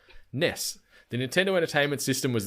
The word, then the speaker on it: NES: the answer in quotes Ness with almost like an emphasis on the S so it's n e